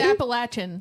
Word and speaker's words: Appalachian: how do you say appach Appalachian it's Appalachian Appalachian Applebees I got it I got it